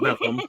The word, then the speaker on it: Bethlehem: When I used to live in Maryland, it was I lived in Bethlehem, Pennsylvania, which is actually you pronounce it Bethlehem, like you have something stuck in your throat or something.